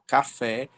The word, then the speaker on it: café: Então o café, a última sílaba mais forte é o fé.